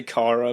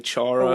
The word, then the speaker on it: Chara: everyone says it differently i just say kara but some people say charo what about if i